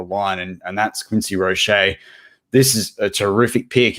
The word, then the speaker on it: Roche: breaking news podcast because how can you say rochet and not have the accent over the e so therefore it smells like roche so i'm gonna not